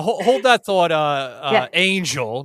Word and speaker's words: Anjl: Uh uh Angel, not Angie, guys.